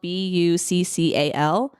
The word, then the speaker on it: buccal: It's spelled Buccal, but it's actually pronounced buccal fat.